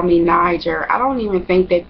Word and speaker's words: Niger: and Nigel is spelled n-i-g-e-r and a lot of people think that you know like you know or night girl or something like that but it's Niger and I like my